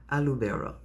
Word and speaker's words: Aloubera: Say her name, Alu Bera.